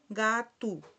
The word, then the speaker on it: gato: Aquí también se da que al final es una o y se pronuncia gatu, ¿verdad?